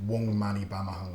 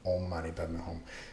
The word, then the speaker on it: Om Mani Padme Hum: There's a chapter on Wong Mani Padme, in different way of pronouncing it, Wong Mani Padme Hum and Om Mani Padme Hum.